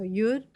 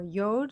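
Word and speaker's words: יוד: It It's a yud or yod depending on how you pronounce it, but that's re.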